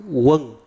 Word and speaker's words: Quan: I remember my name Quan in Vietnamese is pronounced "Wong". And I guess my sponsors couldn't pronounce it. So, they just called me. Wong? Yeah, Wong. Like Q U A N, but the the Southerners would pronounce it Wong. But, the like if you're from North you would say "".